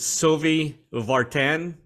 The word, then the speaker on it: Sylvie Vartan: First of all, it features, is it Sylvie Vartan? Is that how you pronounce it?